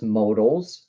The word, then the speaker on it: modal: modal verbs or just modal's for short I just love the word modal because it rhymes with the yodel let's read okay modal